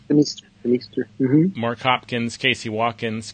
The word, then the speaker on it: Demeester: Is it pronounced? Demeester.